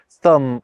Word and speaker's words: thumb: For example, the words thumb, crumb and limb only gained those Bs at the end to make them match with comb, lamb and womb, which already had them.